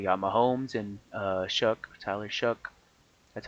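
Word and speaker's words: Tyler Shough: Here you got Mahomes and uh Shuck, Tyler Shuck. That's how you pronounce it, by the way.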